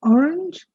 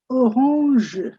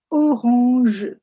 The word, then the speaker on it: orange: It's the same word, you pronounce it differently. Instead of saying orange, you say orange, orange.